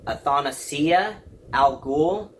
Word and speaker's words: Athanasia al Ghul: So how you pronounce her name is Athanasia Al Ghul, and that's supposed to be Damian's first appearance of his sister in that universe.